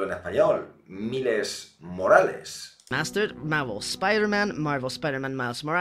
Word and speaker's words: Miles Morales: Hombre, digo yo que al menos lo tendrás que pronunciar en español, porque es un nombre latino.